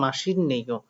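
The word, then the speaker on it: 맛있네요: তাহলে দেখেন এই সিয়তের উচ্চারণ হবে নিউন, কারণ এই ত বর্গীয় বর্ণের পরে নিউন আসলে ত বর্গীয় বর্ণ নিউন হয়, তাই মাসিন নেইও উচ্চারণটা হবে মাসিন নেইও, ঠিক আছে?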